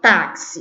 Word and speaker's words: táxi: PS1 Bom vamos lá táxi um táxi a sílaba tônica é o tá termina com i não tem acento senão